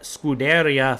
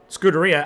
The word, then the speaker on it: Scuderia: Graxon, a very, very strong driver, and a lot to give there in the red Scuderia Ferrari.